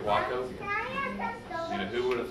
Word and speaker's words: Wachovia: When I first came over the mountains to school in North Carolina, I thought you pronounce the name of the bank Wauchope. I said and learned. And now look at Wachovia.